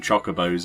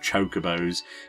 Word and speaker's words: chocobos: things weren't exactly spelt out to you and pronounced which is why half of the reason I call them choco bows instead of chocobos it's just something you have to sort of